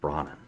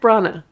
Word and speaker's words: Branagh: like Kenneth bronen and you're saying his name wrong we've been saying his name wrong this whole time what is it is my job to point this out well I say everybody's name's wrong Kenneth Brana Brana yeah what am I saying bronen you're saying brought in